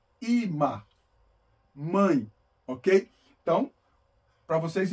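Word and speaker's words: אמא: palavra tem um Alf mas ele não tem som então pronuncia ima ima mãe ok então para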